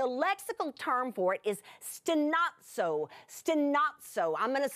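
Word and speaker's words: στενάζω: The lexical term for it is stenazo, stenazo. I'm going to spell it to you just in case you like words like this, S-T-E-N-A-Z-O, stenazo, stenazo.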